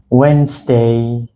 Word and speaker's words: Wednesday: pronounce it it's called Wednesday the D in this word is silent let's see the second